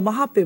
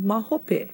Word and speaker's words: mahope: uh people say oh mahape mahape yeah for later and i used to think mahape what is that and as i i learned you know it's just another pronunciation of mahope okay we would never